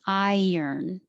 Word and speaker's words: iron: We have an I and an R, but it really sounds like I earn money, or keep your tongue sliding, iron, iron.